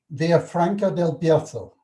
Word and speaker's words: Villafranca del Bierzo: it's not far from, oh, I'm going to really screw up the pronunciation, Villafranca del Bierzo.